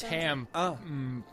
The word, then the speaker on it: Tamp: I know, but it's Tamp. Tamp. Because you kind of... It's like tank, but with an M. Tamp.